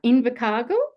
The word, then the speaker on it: Invercargill: So Tracy grew up in, hope I pronounce this right, Invercargill.